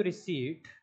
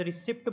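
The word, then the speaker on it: receipt: पर सेंट इन revenue रिसिप्ट अब इसको आप शायद रिसिप्ट बोलते हो प्रति साइलेंट होता है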